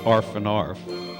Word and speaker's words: Half and Half: Also got to like the warm British beer called Half and Half, pronounced arf and arf.